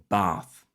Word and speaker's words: bath: example accents are different with Southern Accents typically having a long a in words like bath or laugh and Northern accents shortening